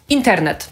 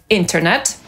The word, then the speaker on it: internet: Co do wymowy tego słowa, to pomijać literę T po N możemy nie tylko w tym słowie. Na przykład internet. Najczęściej usłyszymy to słowo po angielsku jako internet.